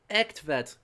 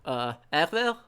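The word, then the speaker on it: Egtved: So this is the Ektvet girl. Not... That was way overpronounced for Danish. Ektvet? That sounds better.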